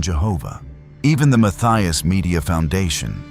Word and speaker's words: Yahweh: In his research, he was the one who proposed the hypothesis that the ancient sacred name YHWH was likely pronounced close to Yahweh rather than Jehovah.